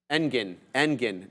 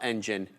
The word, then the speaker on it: Engin: Engin, not engine, Engin Erdogan.